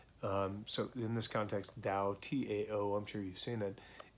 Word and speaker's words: Tao: So in this context, Tao, T-A-O, I'm sure you've seen it. The actual pronunciation is with a D, so D-A-O, Tao De Jing, and the way of change or the path of change.